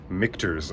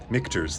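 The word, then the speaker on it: Michter's: Now, it's pronounced Mikers. I think this is probably the most mispronounced brand of whiskey except for the Scotch whisies which are difficult to pronounce, but Mikurs. Think of Michelobs.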